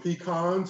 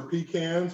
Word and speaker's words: pecans: And I'm going to add some pecans or pecans, whichever one, either one is correct to pronounce, to that.